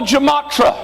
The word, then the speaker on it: gematria: nombre de Nerón, using a method called the gematria. usando un método matemático llamado, how do you pronounce it?